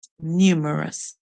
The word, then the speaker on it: numerous: we said we hearu the U makes a long u song new M or num and we said o is US numerous numerous we said that numerous means